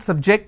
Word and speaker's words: subject: another example please don't subject the students too many tests so here my stress has moved to the second syllable for example when I